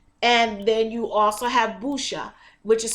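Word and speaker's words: buchu: natural nerve relaxant and then you also have busha which is spelled b u c h u which is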